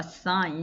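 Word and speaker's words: assign: 단어가 나오는데 와 쌓인 ass rgn 하게 되면 쥐가 발음이 안나죠 그래서 쌓인 이라고 발음이 되는데 뭔가를 할 당하다 내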